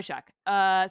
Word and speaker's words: Shough: Okay, Tyler Shough. I'm so excited for America to learn how this man's name is pronounced, because it's going to create some of the most amazing first take chyrons.